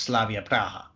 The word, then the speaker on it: Slavia Praha: it is product but the club's pronounced Slavia Praha so I mean it's